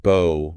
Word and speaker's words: bow: Right, that kind of bow rhymes with cow. Exactly. Mm. But if you're talking about a weapon that shoots arrows or even a pretty ribbon tied in your hair, that bow is pronounced with a long O.